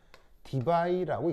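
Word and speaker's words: Debye: 그래서 이제 읽을 때는 뭐라고 읽냐면 디바이라고 읽습니다.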